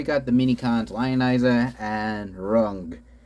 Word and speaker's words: Rung: So here we got the Minicons Lionizer and Rung. Rhymes with Grug.